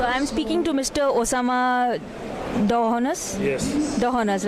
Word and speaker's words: Dahnous: Osama Dohonas? Yes. Dohonas, right? Is that pronounced Dhanus?